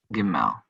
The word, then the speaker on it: Gimel: Gimel. It's a Same. GH. Same. Gimel. And the Gimel with the dagesh lene will be pronounced G.